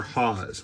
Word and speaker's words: Haas: It's probably pronounced Hunter Haas. When there's 2 A's, it's usually a aw, not ah.